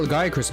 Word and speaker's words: Lagiacrus: We just got Lagiacrus back, and oh my god, Lagiacrus. They pronounce his name so weirdly in wilds.